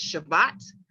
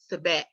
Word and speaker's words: Sebat: It can be pronounced as Shabbat or Sebat, okay, depending on your dialect and your tongue.